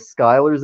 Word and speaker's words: Schuyler: I know there's a lot of Skylers out there. I'd never heard of the SCH Skyler. Yeah, SCHUYLER.